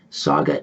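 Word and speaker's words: Sauga: to 6 p.m eastern saga 9 60 a.m and you can stream it live at saga 960 am dot ca saga is spelled s-a-u-g-a s-a-u-g-a as in mrs saga saga 960 am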